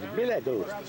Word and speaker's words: Bilodeau: You gotta say his name right, it's Bilodeau.